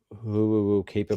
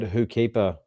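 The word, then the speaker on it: Ho'okipa: who keeper is because we were criticized criticized by a few people from not pronouncing who will keeper properly because we said who keeper and didn't put the O in the middle so now there's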